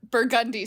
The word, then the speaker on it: Burgundy: Spelled Burgundy, but Burgundy Street. And the Uber driver said, yeah, in New Orleans, we drive down Burgundy and we drink Burgundy.